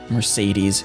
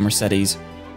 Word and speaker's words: Mercedes: right right Oh Mercedes they don't put as much emphasis on the second E as I do I always put it more like the car Mercedes instead of Mercedes which I think's how they say it you're a sweet